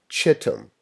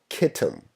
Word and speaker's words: Kittim: with the kingdom of Chittim or Kittim, depending on your pronunciation.